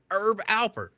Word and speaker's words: Herb Alpert: His name, it's got to be Herb Alpert. I always thought it was Herb, but I was just told, no, the H is silent. It's Herb Alpert.